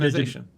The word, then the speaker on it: indigenization: Did I pronounce that right? Yeah, Indigen- indigenization.